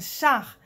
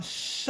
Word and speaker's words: char: c'est la voiture mais ce qui est important c'est de ne pas dire un char avec un as à la française comme chars non il faut plus se prononcer comme un os un show hors comme ça ça noyze daniel jacinthe